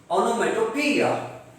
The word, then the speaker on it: onomatopoeia: Otherwise, the correct pronunciation is onomatopoeia.